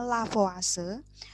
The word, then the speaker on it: Lavoisier: kemudian ada seorang bernama lavoisier atau bahasa bacanya lavase dan proses yang menggunakan